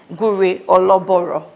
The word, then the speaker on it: Gure Ologboro: Gur or loor finally got the pronunciation right.